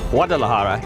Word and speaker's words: Guadalajara: Guadalajara, pronounced Guadalajara, is Mexico's second largest city.